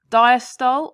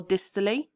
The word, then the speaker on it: diastole: into three stages now people pronounce this differently so i'm going to say both diastole or distally atrial systole or atrial